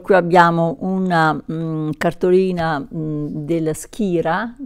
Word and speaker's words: Skira: abbiamo una cartolina della skira si pronuncia proprio skira col k che è del sostanzialmente